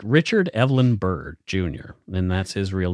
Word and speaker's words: Byrd: But this guy was a real guy, like Richard Evelyn Byrd Jr., and that's his real name too. It's Byrd is spelled B-Y-R-D, not like Byrd.